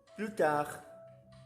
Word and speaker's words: plus tard: Plus tard. Plus tard. Não se pronuncia o S nessa frase e nem o D também do tard, ok?